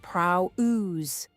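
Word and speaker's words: πραΰς: The Greek is prrow pronounced prow ooze and prrowse does not mean meek in the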